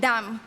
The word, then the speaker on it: dam: In Hebrew, my mother tone, the words ground, human, and blood are pronounced as adama, Adam, and dam.